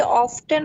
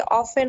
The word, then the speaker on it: often: না, এটার উচ্চারণ কি অফটেন হবে নাকি অফেন হবে? দুইটাই কারেক্ট। একটা হচ্ছে ব্রিটিশ উচ্চারণ, একটা আমেরিকান উচ্চারণ। ও, আমার কাছে মনে হয় অফটেন শব্দটা শুনলে ভাল লাগে, এই কারণে আমি অফটেন উচ্চারণ করি। আর ব্রিটিশরা আমি আমেরিকান ইউএস প্রনাউন্সিয়েশনটা করি আর কি। ব্রিটিশরা করে অফেন।